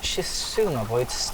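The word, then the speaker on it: Xisumavoid: I believe it is Shizumavoid's design. So go check out Shizumavoid's videos. That is Izuma spelled with an X in the front, and void as in void.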